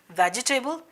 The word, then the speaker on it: vegetable: वेजिटेबल। There is नो एनी टेबल एट ऑल, कोई वहां पे टेबल नहीं है, राइट।